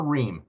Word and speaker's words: Riem: Ree.